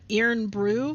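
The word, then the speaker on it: Irn-Bru: Not this one because Ryan sent me some Iron Brew for Christmas, and I cannot buy this in the United States. It's pronounced Iron Brew. Iron? No, it's that's what he's like. He says no, it's Iron Brew.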